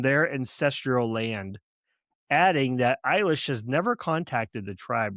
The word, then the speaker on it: Eilish: A Native American nation whose territory includes the Los Angeles basin, where Eilish, how do you pronounce her name? Eilish.